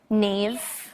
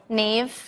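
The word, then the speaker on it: Niamh: sisha that's Hera does anyone know here to pronounce that in the audience hi TIG TIG yeah Nave what Nave Nave but it's NE that's the Irish actor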